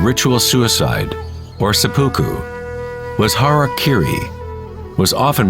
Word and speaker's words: harakiri: one form of ritual suicide or seppuku was harakiri was often mispronounced as Harry KY it means to impale one's Hara thereby cutting